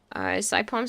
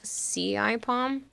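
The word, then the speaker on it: CIPom: Saipom says nearly right. It's pronounced more like C-I-Pom.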